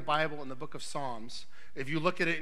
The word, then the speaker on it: Psalms: in the Book of Psalms if you look at it in your Bible it looks like opossums because the P is silent but in Pisans 4